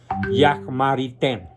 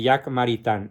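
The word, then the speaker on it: Jacques Maritain: tenía que ser francés Jack marité se escribe jaques maritain por si alguien quiere encontrar el libro que se llama Introducción a la filosofía de Jack maritan es el mejor comentarista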